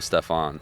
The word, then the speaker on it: Stefan: Like there's a NASCAR driver, Stefan Parsons, and it's just like it's just weird that it's pronounced Stefan, but it's spelled F-A-N.